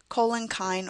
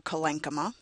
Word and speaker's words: collenchyma: Parenchyme cells, or parenchyma, depending on how you pronounce it, collenchyme or collenchyma.